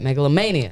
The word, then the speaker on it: Megalomania: want to make sure I say it right Megalania that's right Megalania oh damn I've been saying melanoma it's okay